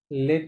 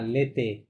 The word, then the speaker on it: l'été: what's entre les অন্থ বাট entre les লেট না, লেতে। l'été আপনি যখন এই ওর